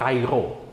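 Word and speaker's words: Chi-Rho: Tapi ternyata setelah kemarin saya selidiki, ternyata ini berbicara tentang lambang Kairo, ya. Jadi bacanya dari X dulu nih, Kai dan Ro.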